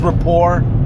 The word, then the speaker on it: rapport: So, I mean, hopefully they'll build up that repertoire of like it's pronounced rapport. It's rapport. That rapport.